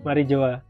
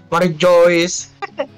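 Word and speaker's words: Mary Geoise: Mary Joa. Iya, Mary Joa. Mary Joyce. Tulisannya Mary Joyce, Mas. Iya, tapi membacanya Mary Joa. Nah, tetap Mary Joa.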